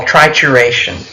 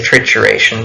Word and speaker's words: trituration: you can do is what we call trituration I think some people also say trickeration but I call it trituration and what we mean